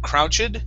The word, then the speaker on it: crouched: Let's end with a T sound. Instead of crouched, the word is crouched.